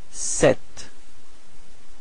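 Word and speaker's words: ces: And then finally, the plural form, it's se. Alright? So it's this it's open, it's eh, okay? So don't be afraid to open your mouth, and it's pronounced like se.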